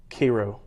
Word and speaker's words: Cairo: well I miss that I said it wrong it's Cairo Church of Christ so I preach